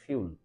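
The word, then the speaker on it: fuel: যদি আমরা ইংরেজি উচ্চারণ করতে চাই তাহলে এটাকে উচ্চারণ করতে হবে ফিউল।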